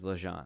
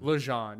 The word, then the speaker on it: Legendre: So that's the way it's pronounced, is LeJean. LeJean, yeah, like that.